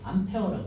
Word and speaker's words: 암페어: 그래서 그리고 단위는 A라고 쓰고요. 암페어라고 읽어요. 그리고 이제 뭐 이름이 영어랑 좀 다르잖아요. 불어에다 뭐 앙페르라고 해가지고 이제 그 A자를 따서 암페어라고 쓰는 거고요.